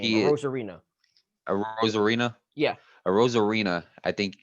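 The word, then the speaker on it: Arozarena: a Rosarena, Yeah, a Rosarena, I think is their best player in this whole World Series.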